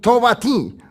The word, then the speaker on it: Tobatí: Entonces cuando yo hablo en inglés, Tobatí, tengo que decir, ¿no? No puedo decir en inglés. No, si hablo en francés o en ruso, siempre voy a pronunciar Tobatí.